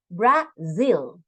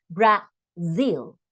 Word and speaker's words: Brazil: Okay, we pronounce z, z, right? So when the words have this kind of, this letter, the pronunciation, we have to apply the pronunciation of that letter. Brazil, right?